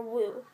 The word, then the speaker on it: woe: filled with misery and woe or woo it's w-o-e everyone pronounces that word differently so from the very